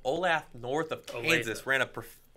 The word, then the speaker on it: Olathe: beat a team called Olathe North of Kansas, ran a perfect race. What was that pronunciation, Kyle? Olathe. Olathe North. All right, fine.